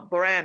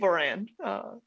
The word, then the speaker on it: Moran: actually to miss uh buran i've been pronouncing your last name wrong um it's kate moran so my apologies um